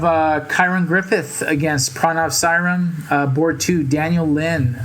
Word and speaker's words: Kyron: four and a half is pronounced siren who just won against